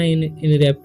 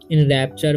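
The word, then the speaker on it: enrapture: इन रेप्टर नहीं पढ़ना इन रपट नहीं पढ़ना ठीक इन रप चर पढ़ना है ठीक इ एन से इन और आर ए पी टी यू आर ई से इन रप आर प से रप ठीक है टी आर से चर ठीक है इन रैप्चर मी ए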